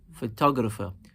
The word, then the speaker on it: photographer: Photographer. Not only do some of the vowel sounds shift or change, but we are also emphasizing the second syllable in this word now, photographer.